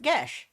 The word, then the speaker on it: geas: Side note, the spell spelled Geas is, in some Irish dialects, pronounced Gesh.